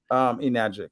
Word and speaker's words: Enagic: Enagic, yep.